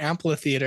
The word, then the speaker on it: amphitheater: I don't think it's a hard amphitheater. P. It's a PH. Amphitheater. Now I'm just. Oh, do it again. Amphitheater. Yeah. Amphitheater. Amphitheater. It's a tough word. Amphitheater. So it's not a hard P.